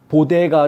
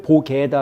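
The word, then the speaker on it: bodega: 라고 이야기한 해야 되는데 그것도 발음을 잘 못해 가지고 보게 다라고 보데가 를 보 개다 라고 발음을 하는 바람에 그것까지 고도 또 말이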